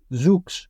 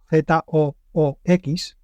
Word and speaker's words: Zoox: La empresa se llama Zoox, escrito Z-O-O-X. Bueno, pues esta, la que llamaremos para que sea más fácil de pronunciar, Zoox, va a empezar o ha anunciado